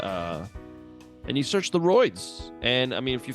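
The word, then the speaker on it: Royds: apple music Spotify uh and you search the roids and I mean if you found this you know how it's spelled so it's Ro yds you idiot idiot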